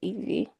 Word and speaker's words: Ivy: name is Evie, but it's spelled like Ivy, but you say it Evie.